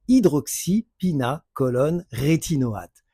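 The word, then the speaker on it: hydroxypinacolone retinoate: Donc, je vous le prononce, j'ai pris des notes, c'est hydroxypina colonne rétinoate.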